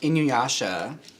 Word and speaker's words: Inuyasha: favorite alltime anime minus inua sorry I completely butchered that Inuyasha I think that's how you say it I remember that